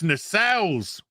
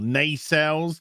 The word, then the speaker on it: nacelle: at them look at those nacelles or nay cells depending on how you want to personally pronounce them look at those nacelles